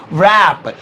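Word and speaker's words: wrap: इसे अंग्रेजी में बोलेंगे रैप, रैप। वैसे तो इसमें W साइलेंट है, रैप बोलेंगे, लेकिन वाह के हल्का सा साउंड देंगे तो बड़ा मजा आएगा, रैप।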